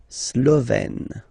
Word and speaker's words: Slovène: Remember, accent grave, you open it, Slovène.